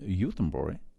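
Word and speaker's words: Göteborg: was that they would keep the name yutembori however pronounce it the way the germans would gothenburg youthenbury sweden and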